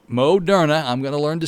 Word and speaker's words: Moderna: have a new uh vaccine coming out the modern moderna i'm going to learn to say it correctly